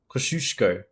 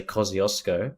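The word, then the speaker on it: Kościuszko: all the Aussie explorers koshiushko kosh kosushko kosushko I think I think I think that's how it's said we just say ksiosco which is incorrect Hey, Disco.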